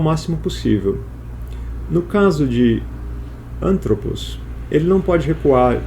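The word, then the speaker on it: ἄνθρωπος: No caso de anthropos, o acento é proparoxítono. Ele fica na antepenúltima sílaba. Então, o acento vai sempre tentar recuar o máximo possível. No caso de anthropos, ele não pode recuar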